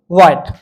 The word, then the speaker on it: Wyatt: Sir Thomas वाइट pronunciation क्या है समझ लो, WYATT, सर थॉमस वाइट। और जो सर थॉमस वाइट थे, पहली बात तो इनका खुद का अपना ओरिजिनली वर्क आए नहीं लाइफ लॉन्ग, सारे जीवन भर सर थॉमस वाइट का अपना ओरिजिनली वर्क नहीं आया।